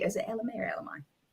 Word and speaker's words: Ella Mai: Is it Ella Mai or Ella Mai? Ella Mai, I think. Ella Mai, because it's spelled M-A-I.